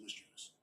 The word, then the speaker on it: mischievous: It is pronounced mischievous. Mischievous.